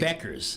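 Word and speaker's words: Bueckers: Beckers. It rhymes with checkers.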